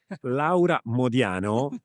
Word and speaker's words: Laura Modiano: Thank you for also pronouncing my name in the proper Italian way. I mean, Laa Modiano, people listening to this